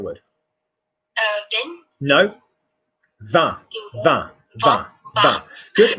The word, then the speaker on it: vin: Vin. Vin. Good. Match my vowel. Vin. Vin. That's it. Good. Vibrate. Close your eyes. Vin. Vin. Nice vowel listening.